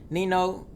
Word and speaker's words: Ninho: those very good actually I think you did say it right because a the age in French like it in Spanish is silent oh really yeah oh